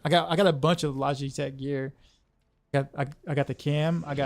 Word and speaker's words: Logitech: It says on Google it's pronounced Logitech.